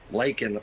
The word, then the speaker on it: Laken: President, and it's a slap in the face to this family of Laken Riley. It's Laken, Mr. President, not Lincoln.